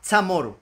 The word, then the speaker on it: CHamoru: el término chamorro a Chamoru. Ay, Santa María Nanzos. Pero, ¿por qué? Pues explico que asíismo siempre se ha pronunciado la palabra chamorro, o sea, chamoru en el idioma chamorro.